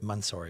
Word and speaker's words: Mansory: Mansory.